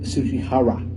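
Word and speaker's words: Tsujihara: CEO Kevin Tsuchihara. His name was crazy, but that's how you pronounce it, I guess.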